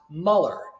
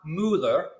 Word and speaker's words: Muller: And to model this, I would say something to the effect of, my name is Muller, not Mueller or Mueller, Muller. My name is Muller.